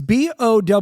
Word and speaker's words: Bowe: It's Bowe. I think the E is silent. I don't think it's Bowie.